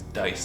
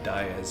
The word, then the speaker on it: Dyess: It's Dice, not Diaz or anything like that.